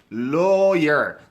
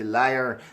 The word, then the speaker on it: lawyer: he would be lawyer او نو دغه تلفظ lawyer تاسو کوشش وکړئ لکه واو غوندې دغسې لا الف غوندې ور نه کوئ چې هغه بیا معنا کې ممکن فرق وکړي ځکه چې لایر بیا دروغجن ته وایي نو په دې اساس